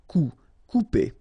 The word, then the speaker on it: couper: Okay, when you combine this O and U together, you will get the sound OU. Okay, couper.